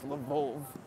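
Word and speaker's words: Львов: Lviv is how you say it in Ukrainian, but in Russian it's Lvov.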